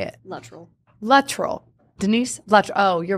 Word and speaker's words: Luttrell: Luttrell.